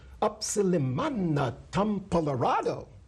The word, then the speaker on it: Upsilimana Tumpalarado: His name was Upsilimana Tumpalarado. It was easy to pronounce. Up-silly-mana Tum-pa-larado.